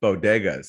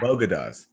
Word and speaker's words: bodegas: enough attention is that she also mispronounced bodegas she called it bogadas it's pretty hilarious which